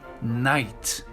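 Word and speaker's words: knight: dire oh ici donc la combinaison du cas et du n en anglais très souvent on ne prononce jamais le cas comme dans par exemple le genou ni le chevalier night le verbe savoir ou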